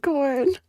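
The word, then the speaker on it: Khorne: get powers from yeah pronounced as corn that's the best thing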